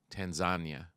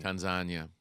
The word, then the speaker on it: Tanzania: or as I think the proper way to say it is Tanzania. yeah, that's what my friend Ali Kalanga in Kenya calls it, Tanzania. Tanzania, which sounds Um, like lasagna.